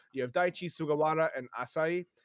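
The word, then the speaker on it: Asahi: yeah, Daichi is technically in Western culture a senior, along with Asai. Is that how you say his name? Asai. Asai, yeah.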